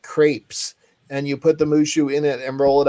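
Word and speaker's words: moo shu: blue shoe mushu uh mushu is a chinese dish and it's moo like cow followed by shoe not spelled like shoe but pronounced like shoe and it is a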